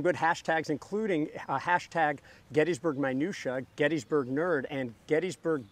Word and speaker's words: Gettysburg: always don't like that chris pronounces gettysburg properly there are people like me that like to say gettysburg i likes the way it sounds but the founder's name was james gettys it's gettysburg so don't call chris